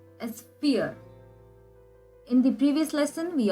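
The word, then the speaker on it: vier: pore is called as fear in the previous lesson we again learned that v is pronounced as f and i e is pronounced as e which means four is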